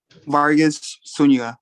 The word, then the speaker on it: Vargas Zuniga: Give me the correct pronunciation of your last name, please, sir. Vargas Zuniga. You had it right.